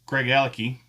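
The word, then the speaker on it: Craigellachie: Now I been working on the pronunciation which is Greg Alaki. Greg Alaki Craig Lac E.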